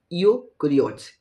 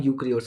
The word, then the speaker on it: यूकैरियोट्स: the organism we cell having a nuclear membrane are called यूकैरियोट्स यूकैरियोट्स यूकैरियोट्स sorry यूकैरियोट्स इसका नाम यूकैरियोट्स है यूकिरियोट्स नहीं ईसाइलेंट है यूकैरियोट्स है कहने का अर्थ ये